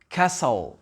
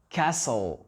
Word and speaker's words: castle: Pareil ici, castle, castle. Répétez après moi, castle. Le T n'est pas prononcé.